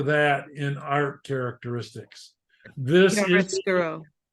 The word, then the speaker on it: chiaroscuro: This Chiaroscuro.